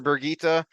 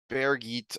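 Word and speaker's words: Birgitte: but there's also a bear Geet uh uh Germanic Scandinavian because it without the extra syllable in the end it's the German pronunciation of Bridget and but then you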